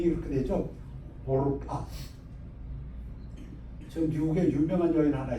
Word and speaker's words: Orpah: 그들이 거기에 거주한 지 10년쯤에 오르바, ORPAH 스펠링이 이렇게 되죠. 오르파.